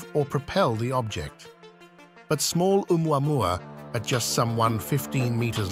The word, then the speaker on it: Oumuamua: Oumuamua, pronounced Oumuamua, is the first known interstellar object to pass through our solar system.